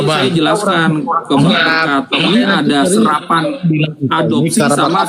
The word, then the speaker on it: Berkat: Contohnya nama saya Berkat. Di dalam kamus KLBI bahasa Indonesia BERKAT dibacanya Berkat, bukan Borkat.